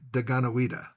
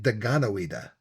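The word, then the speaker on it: Dekanawida: That sure sounds a lot like Daganawida. Well, the only difference is the T and the D sound, which we already know from King Dododa. Well, the T makes a D sound.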